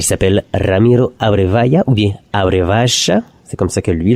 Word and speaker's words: Abrevaya: cet artiste il s'appelle ramiro areva yahoo via areva c'est comme ça que lui le prononcer donc on va découvrir une autre chanson